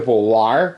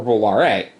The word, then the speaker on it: volare: The word volley the original was, depending on how you pronounce it, it's either volare or volare.